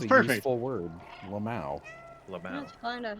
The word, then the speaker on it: LMAO: I forget that that's not like a widespread way to pronounce LMAO, but like it's Lamau.